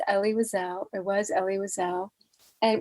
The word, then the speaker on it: Elie Wiesel: just so everybody knows his name is ellie wisell it was ellie wiseau